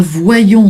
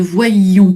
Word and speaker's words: voyions: Exactement, voilà, pour bien faire entendre l'imparfait. Hein, voyons sans le i, nous voyons, nous ne voyions pas. Hein, c'est pas facile, mais effectivement, il faut le faire durer un petit peu plus.